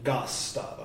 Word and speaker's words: Gosstavo: Is it how do you pronounce that first syllable? Gosstavo.